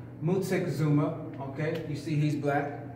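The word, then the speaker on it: Moctezuma: I go any further this is Montezuma but properly pronounced Musa Kazuma okay you see he's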